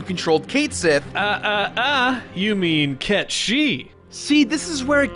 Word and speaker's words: Cait Sith: You mean Ket Shi? See, this is where it gets really annoying, dude. The game calls Cait Sith, but the correct pronunciation is in fact Ketchi.